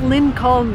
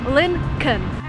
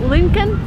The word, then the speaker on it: Lincoln: Again, pay attention to what I'm saying here. It's not Lincoln, the way it's written. There is an L before N. When you actually pronounce it, you say Lincoln.